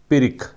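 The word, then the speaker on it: pyrrhic: Pronunciation क्या है इसका? पिरिक।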